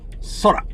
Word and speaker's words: Sora: So Sora, Sora, roll the R, people.